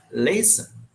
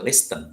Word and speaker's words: listen: to work English songs lease in bahasa Indonesia means mendengarkan Oh ya ahli ngambek udah pernah season ingat cara pengucapannya lease bukan listen ya tapi please Hai Endless second song-song